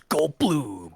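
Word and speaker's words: Goldbloom: The name's Gold Bloom and it rhymes with doom.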